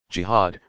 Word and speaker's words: jihad: what is jihad you jihad pronounced GHA ad comes from an Arabic